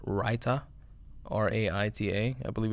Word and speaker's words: raita: then pour something on top of it called raita r-a-i-t-a I believe it's spelled writer and it's like a garlicky uh